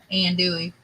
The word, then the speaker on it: andouille: Andouille.